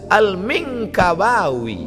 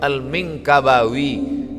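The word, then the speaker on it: al-Minangkabawi: apalah cara baca ini Alif Lam Mim Nun Kaf ba Alif wau ya rupanya lama saya baca alminkkabawi Minangkabau Syekh Ahmad khhatib alminkabawi nama dia Ahmad khtib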